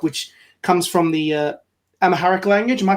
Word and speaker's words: Amharic: with this book which comes from the uh Amahharic language. Am I pronouncing that correctly? Amharic Amharic text which is darkness is a gracious